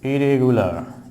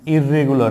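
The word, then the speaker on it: irregular: ইরেগুলার, ইররেগুলার নয়, ইরেগুলার। অনেকে উচ্চারণ ভুল করে থাকে, বলে ইররেগুলার, নট ইররেগুলার, it will be ইরেগুলার, ইরেগুলার, ইরেগুলার। এবং ফনেটিক্স দিয়ে বললে শেষে আর আবার উচ্চারিত হবে না, ইরেগুলার, ইরেগুলার, ইরেগুলার সেটি।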